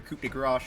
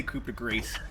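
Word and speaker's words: coup de grâce: Sometimes, Jerry, you're also you're asking set up for your coup de grace shots that I need to prepare myself for you. You don't pronounce it.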